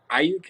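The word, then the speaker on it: Aiyuk: I'm still not a fan of Ayuk.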